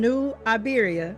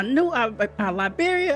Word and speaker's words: New Iberia: So, I said it earlier from New Iberia, right? Yes, ma'am. I'm telling you, I've been saying it wrong for years and I'm like, I got I got people in uh New Liiberia.